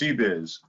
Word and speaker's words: CBIZ: So the letters are actually pronounced CBIZ. Oh, that's even easier.